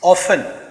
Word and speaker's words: often: ऑफन अक्सर OFTEN। कुछ लोग इसको प्रोनाउंस ऑफ्टन भी करते हैं, विच इज़ एब्सोल्युटली करेक्ट, वो भी गलत नहीं है।